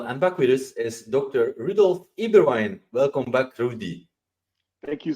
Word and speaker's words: Eberwein: backwards is Dr Rudolf eberwein welcome back Rudy thank you so much Stephen always a pleasure and I love the way you say my name that's a true European eBay wine I read recently that